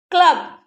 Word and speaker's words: club: Okay, we are pronouncing the letter B. Snob. Club, Club.